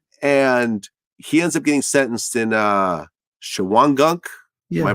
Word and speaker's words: Shawangunk: And he ends up getting sentenced in Shawangunk. Yeah. Am I pronouncing it right? Yeah. Yeah, Shawangunk Correctional Facility, where you were sentenced as well.